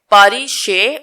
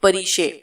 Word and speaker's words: پریشے: زیادہ، ڈاکٹر پریشے جہانزیب۔ پاریشے، اس نے اپنے یورپی لبو لہجے میں اس کا نام دہرایا۔ پاریشے نہیں، پریشے۔ میرے نام کے پیچھے کیوں پڑ گئی ہو نشا؟